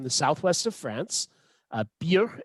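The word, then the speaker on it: Byrrh: first is from the southwest of france uh beer it's it's pronounced uh not burr um beer is from what we call today the russian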